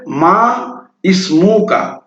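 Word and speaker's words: ما اسمك: মিম আলিফ জবর মা, এখানে ইসমুকা হওয়ার কথা উচিত ছিল মা ইসমুকা, কিন্তু এখানে এই আলিফটা উচ্চারণ হবে না, এটা হবে এক চান্সে মা ইসমুকা।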